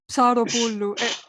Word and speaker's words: Psaropoulou: Psaropoulou. Sarapoulou. Psaropoulou. It's PNS is one word in Greek.